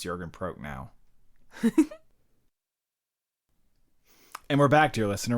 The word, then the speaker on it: Prochnow: for me is and forgive me if I mispronounce his name, but Jürgen Prochnow. Prochnow is what I looked it up. Oh, did you? Okay, I assumed. I've since forgotten. I think it's it's Jürgen, definitely Jürgen Prochnow.